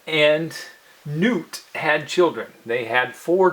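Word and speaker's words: Nut: is the sky goddess and her name is Newt is spelled n UT then the air God shoe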